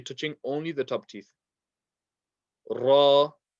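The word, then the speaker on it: ر: Ra, not a heavy letter, but we will read it as so. So we won't say ra, we will say ra, and it's a vibration of the tongue.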